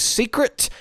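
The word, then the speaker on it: Seikret: by the way is Secret at least I think it's pronounced secret secret secret I feel like it's secret s e i k r e t in any case a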